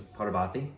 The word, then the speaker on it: Parvathy: I believe the pronunciation is Parvathy.